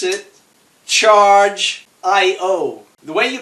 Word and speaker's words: Chargiot: out you pronounce it charge aiyo the way you pronounce the name of the company is charged I owe you do not the T is silent so it's charged I